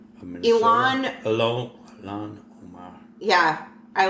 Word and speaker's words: Ilhan Omar: that name sounded familiar uh how do you pronounce that Island Omar of minesa Al Alan Omar yeah I like her okay she's running for